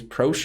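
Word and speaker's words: Proche: then you also have James crochet James prosh we would say pronounce it and yeah that's about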